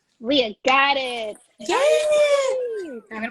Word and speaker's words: Leah: Okay, I want to make sure I'm pronouncing your name right. Is it Leah or Leah? It's Leah. Leah, got it.